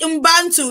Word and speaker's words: Ubuntu: Is it Ubuntu? Is it Ubuntu? Who can pronounce that for me again? Ubuntu, the spirit of Ubuntu.